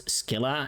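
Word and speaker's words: Scylla: Also, they pronounce Sila in this game as Skila, and I I don't like it. Yes, finally. I hate it. Oh, I don't know. I got so used to Sila, but it is like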